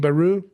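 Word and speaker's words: Bayrou: Baru, how do you say his name? Baru?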